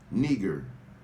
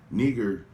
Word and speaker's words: Niger: N-E-E-G-E-R is the pronunciation of that word. Nigger. Nigger is how you pronunciate it.